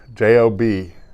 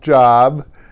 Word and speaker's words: Job: are well one of them is job job j.o.b and he has a whole book about him doesn't he and it's not pronounced job it's job and job is just a great